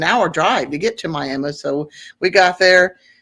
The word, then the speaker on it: Miami: go to Miami which it's spelled Miami like the uh like in Florida but for some reason in Oklahoma they call it Miami and it's a smaller